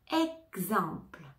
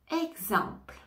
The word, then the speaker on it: exemple: énergie énergie énergie énergie exemple exemple exemple ici on ne prononce pas le E final exemple on entend le